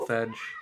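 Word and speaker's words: selvedge: the word out loud selfedge self there it's like it's spelled and pronounced basically both ways yeah both ways as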